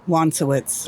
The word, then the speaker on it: Wonsowicz: What's the proper pronunciation of your last name? Wowitz.